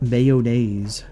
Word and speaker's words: mayonnaise: I say it in 3 syllables, like mayonnaise. It's an East Coast dialect or a Midwestern dialect, so.